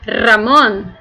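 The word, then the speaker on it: Ramón: E para pronunciar o nome de alguém, de uma pessoa, você vai dizer Ramon. Vocês vão notar que é só a diferença do R, tá?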